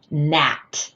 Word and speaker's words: gnat: "Gnat" is spelled with gn but we don't hear that /g/ sound right? We just hear that /n/.